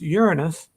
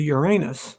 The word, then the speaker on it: Uranus: And I studied astronomy and knew that it was supposed to be pronounced Uranus, which meant pee, instead of Uranus, which meant poop.